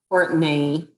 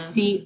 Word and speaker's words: Courtenay: And we should specify Courtenay. I'm kind of exaggerating the pronunciation. Courtenay, yes. It's Courtenay.